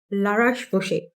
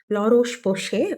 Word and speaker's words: La Roche-Posay: என்னன்னா, La Roche-Posay. Pronounce கரெக்ட்டா பண்றேனான்னு தெரியல. La Roche-Posay.